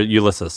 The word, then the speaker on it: Ulysses: Ulysses or Ulysses?